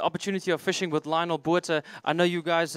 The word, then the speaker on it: Botha: of fishing with Lionel Botha. I know you guys, in South Africa, we pronounce it Botha, so not Botha.